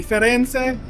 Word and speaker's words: Firenze: I said it right this time, the Firenze.